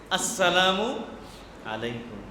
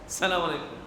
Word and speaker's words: আসসালামু আলাইকুম: আসসালামু আলাইকুম। আসসালামু আলাইকুম। অনেক মানুষ এই স্টাইল করে সালাম দেয়। এমনভাবে সালাম দেয় যে উচ্চারণই হয় না। সালামু আলাইকুম। এখানে হামজা আছে। আসসালামু আলাইকুম।